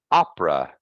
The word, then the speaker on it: opera: words wallet further pardon Opera now this one as I told you this one has a reduced sound uh in the middle that's completely reduced so it's only two syllables Opera okay uh the